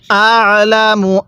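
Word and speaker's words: أَعْلَمُ: কুল আং তুম, এরপরে আলামু আমিল্লাহ, কিভাবে পড়ব? আলামু, আইনটা পড়ার সময় গলার মধ্যে চাপ দিয়ে পড়ব, তাহলে আইনটা সহি শুদ্ধ উচ্চারণ হবে।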